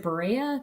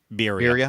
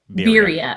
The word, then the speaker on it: birria: Is it Berea? Berea tacos? Birria. I don't know. Birria. Birria. Okay, see, there you go.